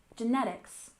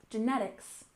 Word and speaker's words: genetics: environment next we have genetics we stress the second syllable genetics genetics the word genetics comes